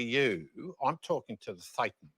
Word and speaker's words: Thetan: Thetan, we pronounce it Yeah.